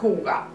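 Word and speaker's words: hygge: cómo se pronuncia porque yo claro al leer Leo hie porque es lo que pone pero creo que se pronuncia huga entonces aquí tengo un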